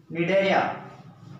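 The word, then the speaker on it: Cnidaria: अब अगला फाइलम है फाइलम निडेरिया, कौन सा फाइलम? थर्ड नंबर पर डालना फाइलम निडेरिया, फाइलम निडेरिया। यह सी यहां पे साइलेंट है याद रखना निडेरिया में, इसका एक और नाम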